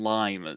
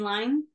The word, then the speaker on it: Lyne: working for it was Adrian Lynn or Adrian Lyme. I've heard it's pronounced both ways. Yeah, I've always said Adrian Lyne.